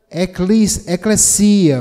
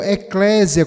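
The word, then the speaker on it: ἐκκλησία: tradução da palavra grega eclesia ou eclesia, ou eclésia, como alguns pronunciam, abrasileirando a pronúncia.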